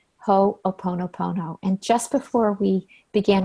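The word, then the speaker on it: ho'oponopono: it correctly I had I had learned ho oponopono and she has informed me it's ho oh ho nope oh ho oponopono so don't let a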